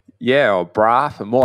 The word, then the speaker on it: Braap: Is that the correct pronunciation? Yeah, or Braap. The more Braap.